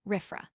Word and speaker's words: RFRA: Following swiftly upon the heels of the Supreme Court Ober Jeffel ruling, the Indiana legislature passed a Religious Freedom Restoration Act, RFRA, pronounced RIFFA, originally crafted decades ago with the purpose of preserving the rights of minority religious people.